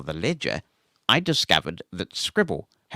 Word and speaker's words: Scribl: Debbie Armstrong's writing in and says, if Bookshare, NLS and public library offerings aren't enough for you, check out Scribble, which is spelled Scribl.